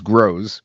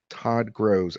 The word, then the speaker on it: Gross: Now, sometimes it gets my name wrong and it says Gross. So I'll write Gross like that, which sometimes it pronounces Grows, but it's closer. Todd Grows.